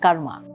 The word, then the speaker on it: karma: So law of karma and astrology go hand in hand. What's the word karma? Karma basically, in pure proper pronunciation, it is karm.